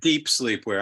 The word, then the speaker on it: Dep Slepwear: We pronounce that Dep Slepwear.